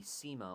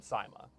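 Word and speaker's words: CYMA: So I pronounce them SIMA. Well, you're So- wrong. So I do SIMA It's wrong. AK.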